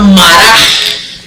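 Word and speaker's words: מָרָה: La palabra rebelión la encontramos nosotros, que es el hebreo, en este caso es el H4784, se pronuncia maraj.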